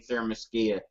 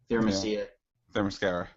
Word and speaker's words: Themyscira: they show her leaving Themyscira. Themyscira. Whatever. Just remember, there's mascara in the name.